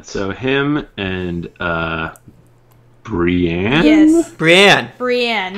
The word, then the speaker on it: Brienne: Brienne. Not Brian.